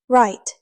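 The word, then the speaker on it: write: no equals no right equals right knife equals knife The K and W are silent.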